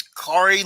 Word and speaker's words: Kaare: He used to do videos and he said it was Kari like Atari. that's how I learned to pronounce it.